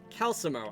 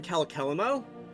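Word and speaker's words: Calcelmo: Calamo. I've always called him Calkeelmo.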